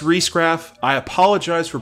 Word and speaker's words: Riesgraf: by Parker actress Beth Riesgraf wait hold on stop a second it was brought to my attention that I mispronounced her name wrong and that my credibility was in question miss Reece Graff I apologize for pronouncing